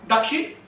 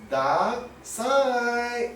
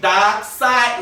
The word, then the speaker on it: Darkseid: Dark Sheep? It's pronounced as Darkseid. Oh, not Dark Sheep, Darkseid, remember?